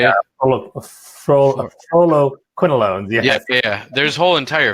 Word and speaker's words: fluoroquinolones: Fluoroquinolones, yes.